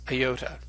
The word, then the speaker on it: iota: be long or short we pronounced a long yoda we tend to pronounce it like that long e sound as in pizza and a short iota we tend to pronounce as a short hi in English as in Pitt now in some words